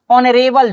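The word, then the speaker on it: honourable: दूसरा में हम लोग देखते हैं एन एन ऑनरेबल जॉब। एन ऑनरेबल जॉब। तो यहां पे देख सकते हैं कि एच जो है हमारा साइलेंट है।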